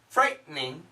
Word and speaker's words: frightening: Frightening. Threatening. What's interesting, perfect pronunciation, frightening. Frightening. But when we say it really fast, many times it sounds like frightening. Frightening. We skip that sound.